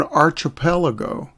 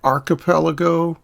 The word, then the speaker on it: archipelago: an island in an archipelago or archipelago or archipelago wherever you are in the englishspeaking world that word has different pronunciations well what is that